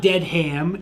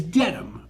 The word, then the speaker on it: Dedham: So Dedham is not dead ham, it's Dedham, right?